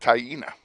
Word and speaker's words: Taina: You know, Taina. I wouldn't have said Taina for Taina. Yeah, no, I wouldn't have either. That's how it's pronounced, Taina. And I know that because she told me.